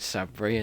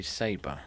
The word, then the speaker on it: Saber: called sabri so yeah for a long time i was pronouncing it sabri and then eventually it was no it's supposed to be saber do you mind we're